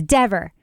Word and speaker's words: Dever: You better not pronounce it wrong. It's Dever.